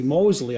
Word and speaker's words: Mosley: was the complete opposite Justice Mosley Mosley I believe his name is pronounced of the federal court